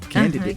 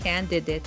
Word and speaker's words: candidate: mispronounced as well is the last syllable because it's date right but you don't say date it's dat right candidate candidate MH mhm or even